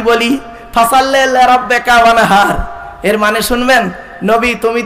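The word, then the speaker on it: وانحر: এই গলার ভেতর থেকে হেটা উচ্চারণ করবেন, ওয়ানহার, হাই হুটি, হাই হাওয়াজ নয় মাপেরা।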